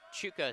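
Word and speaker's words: Chucka: Steven, it's spelled C-H-U-C-K-A, but Chuka sounds more correct to me.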